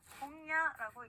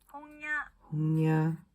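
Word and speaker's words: 本屋: 자, 서점이라고 하는 단어는요, 홍야라고 있습니다. 따라할게요. 홍야. 네, 이응과 이응의 그 중간 발음으로 꼭 해주시면 되고요.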